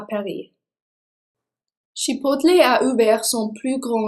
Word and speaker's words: Chipotle: Chipotle est prononcé comme le piment mexicain.